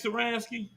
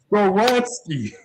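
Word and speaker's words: Skoronski: Rogu, you ready for me to get upset they take Saransky? First of all, I'm gonna need you to say his name right, man. Skoransky, whatever it is. Skoransky.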